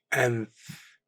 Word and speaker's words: أنف: أنف أنف Nose, pronounced أنف.